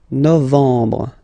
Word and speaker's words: novembre: Okay, EM en novembre, novembre.